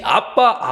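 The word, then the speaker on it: אבא: 입니다 아람어 물가 생각하면 아빠 하니까 지금 우리 한국말로 아빠라고 이렇게 생각하실 수 있는데 그 아빠가 아니에요 발음이 아빠입니다 아빠 아람어로 발음이 아빠의 아빠 그런데 큼 공교롭게도 이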